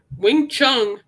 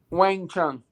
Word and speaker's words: Wang Chung: Wing Chung. Is that how you say? I thought it was Wang Chung.